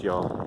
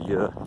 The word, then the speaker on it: Ure: So the river is spelled U-R-E, spelled Yor, or pronounced Yor, or Yer, depends how you pronounce it.